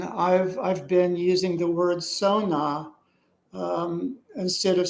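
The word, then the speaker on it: Xona: He wrote it down as X-ONA. So he was kind of writing it in a Chinese, like an English version of like a Chinese word. Um, but I wasn't sure about it. And so again, when I got home, I was doing some energy readings with it. Um, I discovered that I would pronounce it as Sona, Sona.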